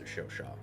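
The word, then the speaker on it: Chauchat: So, according to my comment section, I believe it's pronounced Shoshaw.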